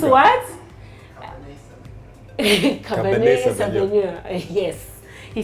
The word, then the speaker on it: Cabernet Sauvignon: Savanio Cabernet. Yeah, we have somebody who can pronounce it proper. It's French. Me, I'm Tumbuka. It's what? Cabernet Sauvignon.